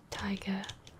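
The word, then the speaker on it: taiga: venture into the T tiger is that even that's got I'm pretty sure that's how you say it t a i g a ven into that a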